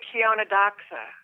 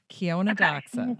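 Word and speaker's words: Chionodoxa: how do you say that Joanne I say Kiona DOA Kiona daa okay all together ladies Kiona DOA okay I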